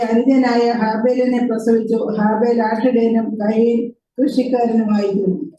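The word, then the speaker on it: Qayin: ഗർഭം ധരിച്ചു കയ്യിനെ പ്രസവിച്ചു ഇംഗ്ലീഷിൽ എഴുതിയേക്കുന്നതായ പദം കെയിൻ എന്നാണ് അത് അങ്ങനെയല്ല അതിൻറെ ഉച്ചാരണവും സ്പെല്ലിങ്ങും അതല്ല ഹീബ്രു പദത്തിൽ നിന്ന് ക്യു എ വൈ ഐ എൻ എന്നാണ് അതിന്റെ ഉച്ചാരണം വരേണ്ടത് കയ്യിൻ അത് നമ്മൾ മലയാളത്തിൽ ഉച്ചരിക്കുന്നത് ഏതാണ്ട് ശരിയായ വാക്കാണ് കയ്യിൻ എന്നാണ് അതിന്റെ പദത്തിന്റെ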